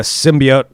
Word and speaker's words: symbiote: So Riot, also a symbiote. Yeah. Okay. I almost said it wrong. Symbiote.